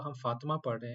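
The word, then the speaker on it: فاطمة: पढ़ रहे हैं तो आप देखि कि बीच में आखरी ते नहीं पढ़ा जा रहा तो हम यह सीख लेते हैं आज के ते को प्रोनाउंस कैसे करना है जब जुमला खत्म हो रहा हो तो जब जुमला खत्म हो रहा हो तो ते को हा के तौर पर पढ़ेंगे ठीक है तो फातिमा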